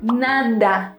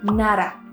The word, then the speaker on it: nada: Es do, nada, nara. ¿Sí ven la diferencia? Nada es lo correcto, nara es incorrecto.